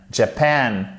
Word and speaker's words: Japan: Japan, accent tonique sur la deuxième syllabe.